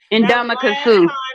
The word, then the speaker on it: Ndamukong Suh: Ndamukong Suh. I mean, she got me saying it wrong. Ndamukong Suh.